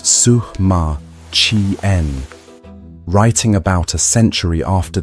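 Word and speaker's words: Sima Qian: The ancient historian Sema Chian, pronounced Sukma Chien, writing about a century after the emperor's death, described what lay beneath the earth mound.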